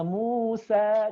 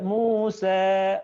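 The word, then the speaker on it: موسى: itu ada tiga Nadia cara baca Musa itu ada tiga pertama Musa jelas hanya ah sempurna hal-hal teh-tehan di-zoom usah sempurna Ayah Musa ada cara yang kedua dengan ta'lil Taklim itu sedikit sejak Muse jadi enggak sempurna Ah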